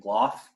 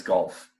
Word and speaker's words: Gloff: my bio so Glo just spelled exactly how it sounds as long as you pronounce my name as golf in that case you